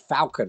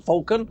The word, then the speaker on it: Falcon: the Ford Falcon see I said it right today I said Falcon rather than fulcon although out of the